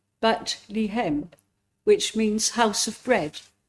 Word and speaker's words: Bethlehem: The connect pronunciation is bat lem, which means house of bread, a reference to the fertility of the area.